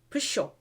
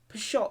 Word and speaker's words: pshaw: to pronounce it but they say pusho peshaw sho they tried to pronounce the p but the p was silent when he first came into the dictionary so sure it's funny